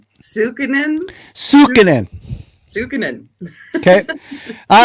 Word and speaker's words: Sukanen: Now, correct me if I'm wrong, the Sunken and Pioneer Village and Ship Museum. Did I say it right? Sukinen.